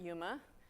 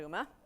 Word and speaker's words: UMA: called user managed access or uma some people pronounce it Yuma but humanitarians Khalid uma and this is its architecture and I want